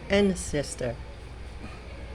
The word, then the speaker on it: ancestor: Ang una pong word ay ancestor. Hindi po ancestor. Hindi po ancestor. Ancestor. Okay. Katulad din ng ancestry.